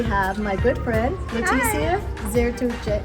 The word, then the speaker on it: Zertuche: This week we have my good friend, Leticia Zertuche. Zertuche, you say it right, you say it right.